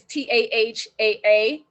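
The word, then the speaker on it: Taha'a: the next one was and i'm saying it correctly but it's t-a-h-a-a with apostrophe over there so it's haha taha is where um rare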